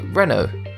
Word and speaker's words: Renault: Therefore, the correct pronunciation is Renault.